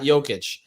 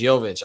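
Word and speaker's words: Jović: And first time ever, Brady, by the way, that I pronounced it as Jovic. So it's not Jokic, it's Jovic.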